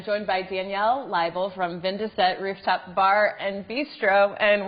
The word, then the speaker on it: Vin de Set: is our address um if you were to phonetically spell out 2017 it would be vindeset which is the name of our restaurant so um to go